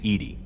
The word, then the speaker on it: EDI: Why are you named EDI? EDI is the phonetic pronunciation of EDI.